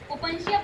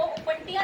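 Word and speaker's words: Opuntia: ओपनशिया बोलेंगे बच्चों इसको, ओपनटिया नहीं बोलते, ओपनशिया। ठीक है, इसकी प्रोनाउंसिएशन है ओपनशिया।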